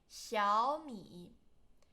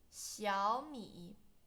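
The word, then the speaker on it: 小米: And you should pronounce this one into second tone because there's two third tone. 小米，小米。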